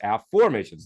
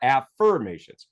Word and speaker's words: afformations: my method of affirmations you'll notice this is spelled a f f o r m a t i n s a formations not affirmations so of course every